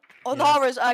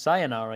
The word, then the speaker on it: Sayonara: I think with the help of Onara's cardiac sensor as the pre-placed, as the sound call, was just enough for that. Yeah, just heard in our producer's ears that it's pronounced sayonara.